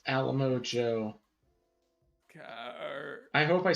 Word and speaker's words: Alamo: it that way because it's alamo like a limo by the way you